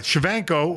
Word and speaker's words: Shevchenko: Shevchenko, whatever. Am I saying it right? I think you got it spot on. All right, Shevchenko, right?